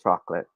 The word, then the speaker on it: chocolate: once i start eating chocolate i can't stop so that's how this word should sound it should be two syllables only remember that okay let's